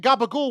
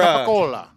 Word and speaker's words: capicola: Not only that, I got you all saying gabagool when that's not the right way to say it to begin with. You want to Oh, go how do you go say eat it? your Hey, go eat your so- ricotta. It's more capicola.